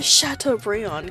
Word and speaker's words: Chateaubriand: I didn't quite have the Chateaubriand cut for my dinner today.